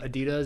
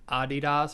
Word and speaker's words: Adidas: Did you know that Adidas is actually like Adidas or something? Yeah. Adidas. Yeah, that's the guy's name. It's like the German name.